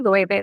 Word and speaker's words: Loewe: and she's like, let's just pop in the Loewe store, or as some people don't know, Loewe, Loewe, that's how it's pronounced.